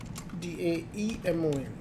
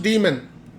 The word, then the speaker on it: daemon: so we'll talk about daemon here d-a-e-m-o-n actually is pronounced demon not daemon but that's how you